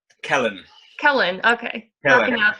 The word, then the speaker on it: Celyn: how do you pronounce it? Is it Kalen? Kellen.